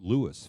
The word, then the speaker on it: Louis: Well, first of all, the sergeant that filled it out wrote Louis phonetically, but that at least tells us that that's how he heard it. Louis. He said Louis.